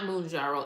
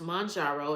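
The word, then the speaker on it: Mounjaro: It's not Moonjaro. It's Mjaro Journey with Pam. And it's pronounced Mjaro.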